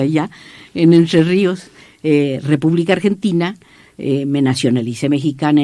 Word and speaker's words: Entre Ríos: público que nací en Entre Ríos, así se pronuncia allá, en Entre Ríos, República Argentina.